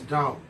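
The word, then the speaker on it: Tao: one Yang that is ta ta is a relation of the in and yang and it is also known and pronounced as da da was a religion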